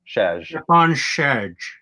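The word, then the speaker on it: Stjepan Šejić: His first name is Stepan, and you're supposed to pronounce his last name Shedge, like Sean Connery is saying it. Shedge. Stepan Shedge.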